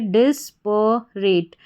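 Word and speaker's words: disparate: तो पूरी स्पेलिंग हमारी क्या बन जाती है, डिस्परेट, डिस्परेट।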